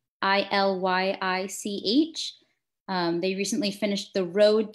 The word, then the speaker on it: Illich: Let's see, another one would be, someone asked if you had thought, I don't know how to pronounce this name, but thoughts on Ivan Illich? I think it's Illych.